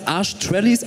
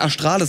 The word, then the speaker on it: Astralis: Arschtrellis? Arschtrallis? Also ich habe den auch vor 10 Minuten erst erfahren, aber ich finde, es ist tatsächlich der beste Teamname. Der wird nämlich Astralis ausgesprochen. Astralis.